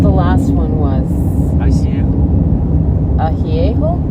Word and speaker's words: añejo: Jerry: Añejo... Mom: Añejo *trying to match Jerry's pronounciation* Jerry: Añejo is aged tequila.